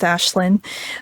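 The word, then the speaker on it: Aisling: like ashland it's spelled like ashling but it's pronounced ashlynn um because that almost ended up being my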